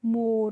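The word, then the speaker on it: more: मैंने आपको पहले भी वीडियोज़ में बताया है, जब भी किसी भी वर्ड में लास्ट में जब ये होती है तो उसका कोई मतलब नहीं होता है, यानी कि उसका हम प्रोनाउंसिएशन नहीं करते हैं। इसीलिए देखिए एम ओ आर को हमने क्या पढ़ा? मोर, और मोर की हिंदी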